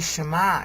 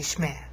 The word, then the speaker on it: Shema: Like when they don't say Shema anymore, they say Shmeh or Shmeh. Okay, because there's sort of a liquid sound there.